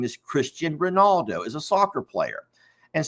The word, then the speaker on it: Cristiano Ronaldo: I think his name is Cristiano Ronaldo, and they were saying his name wrong. They were saying like Christian Colorado or something like that.